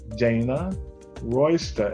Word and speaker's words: Dana Royster: call spotlight a conversation with her name is dana royster am i pronouncing it right dana do i yes you